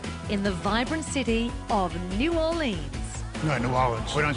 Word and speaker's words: New Orleans: No, New Orleans. New Orleans. Yeah, we don't say Ains.